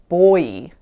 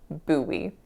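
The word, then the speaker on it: buoy: I always say Bowie, and I don't know why, but it's not a word that I grew up hearing. It has a weird spelling, and my brain just hasn't wanted to learn this word, but it is in fact Bowie.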